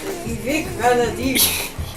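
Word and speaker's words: Vivek Ranadivé: Say his name like Vivek Ranadive.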